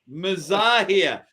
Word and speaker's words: Mazahir: before the show started, for years, we've been saying his name wrong. I've been calling him Mazahir, and it's pronounced, how is it pronounced? Mazahir. Mazahir.